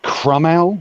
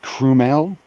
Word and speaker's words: Cromwell: talk about the anima you pronounce it crummell not cremel chromel promo i don't